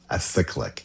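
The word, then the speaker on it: acyclic: A cyclic. A I would have pronounced it acrylic as well. There's no R in there.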